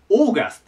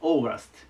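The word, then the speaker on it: August: けどこう書きますで最初 au から始まるんで合うって発音したくなるんですがこれ追うって発音しますそしてオーガストと言いますオーガストいいかなまず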